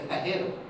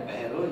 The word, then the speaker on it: Pajero: Now the Spanish pronounce that as Pajero.